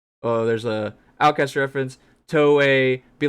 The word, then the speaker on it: Toei: Toei. Be like Toei. Toei animation company. Yeah. It's interesting because the way Toei would be Toei, and then so T-O-E would be Toe-e, and then Toei.